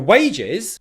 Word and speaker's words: wages: For wages, stress again on the first syllable, wage. This time, make sure you're making a W sound, ooh, and not a V sound where your bottom lip is touching the top teeth.